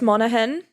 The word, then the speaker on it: Monaghan: No, it's Monaghan, which is an Irish county.